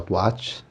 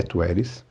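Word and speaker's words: Taweret: a personagem que inclusive no outro eu falei que ela tuat e aqui é a gente viu que a pronúncia correta da personagem né da Deus bótom Deusa da fertilidade é tueris então foi um episódio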